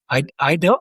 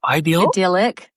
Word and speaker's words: idyllic: How do you say that word, Kari? Ideal? Idyllic.